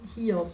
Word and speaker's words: Hiob: Hiob. I just know the German pronunciation.